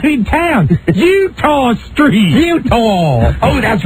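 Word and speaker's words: Eutaw: Utah. Oh, that's right down by the Inner Harbor. E-U-T-A-W. It's spelled Utah Street.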